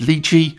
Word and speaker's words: Lychee: initial hecklers by saying I pronounce it lii as that's how the company themselves pronounce it so I do it